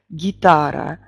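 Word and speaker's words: guitare: То французские согласные не смягчаются ни в какой позиции. То есть «г» будет произнесена очень четко. «Гитар», «гитар». Такое ощущение, как будто после «г» мы произносим «ы».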